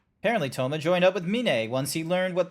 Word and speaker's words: Mine: m I know it's I know it's spelled like mine but it's min hell no wow